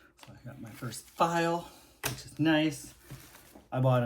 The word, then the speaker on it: Pfeil: I also bought my first I believe it's pronounced file goggle time Swiss made and this is the number 15 V gouge.